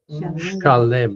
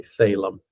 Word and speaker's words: Shalem: More properly, Shalem. Shalem would be the correct pronunciation, but most people say Salem.